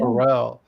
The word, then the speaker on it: Harrell: from Now, the it's not. Harrell, or it's Harrell like Barrel, Gotcha. or like Will Ferrell, spelled the same way.